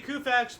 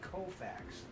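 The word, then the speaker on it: Koufax: them and 59 Sandy kfax broke Dy Dean's National League Mark of 18 strikeouts in the game woo wait a minute wait you cannot mispronounce his name I'm sorry the alltime great Sandy kofax I thought he said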